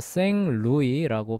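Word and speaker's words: Saint Louis: 그래서 프랑스로 프랑스는 뒤에 T 발음 안 하거든요. T하고 S 발음 안 해요. 끝에붙은 자음은 발음 안 합니다. 그래서 생루이라고 발음하는데 예.서 저번에도 얘기했듯이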